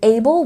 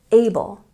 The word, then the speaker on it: able: And able, we have a stress on the first syllable. Able, able.